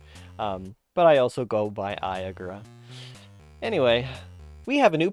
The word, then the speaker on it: Eiagra: I've had people pronounce it Iagra, Yagra, it's Iagra.